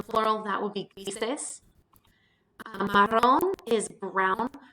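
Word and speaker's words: marrón: Marron is brown. When you make marron plural, you drop the accent from the O because adding that an additional syllable moves the natural stress to the O so we don't have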